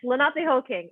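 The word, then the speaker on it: Lenapehoking: Lenape, yes, Lenape Hoking.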